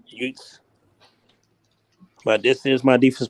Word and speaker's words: Utes: That's how you pronounce that damn team name. Utes. Utes.